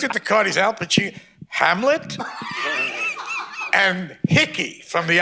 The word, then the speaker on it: Pacino: wow, first of all, he said, Al Pacino. He pronounced my name right. That never happened. I went to a whole school, in public school, they never, Paquin, Pacuno, Pacani, that kind of thing.